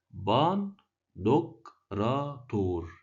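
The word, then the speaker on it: ⲡⲁⲛⲧⲟⲕⲣⲁⲧⲱⲣ: طيب بننطقه دال امتى؟ بننطقه دال لو الكلمة اصلها يوناني وجاء قبل الحرف حرف الني، زي كلمة إيه مثلا؟ باندوكراتور، كلمة بنسمعها كتير في الكنيسة، باندوكراتور اللي هو ضابط الكل.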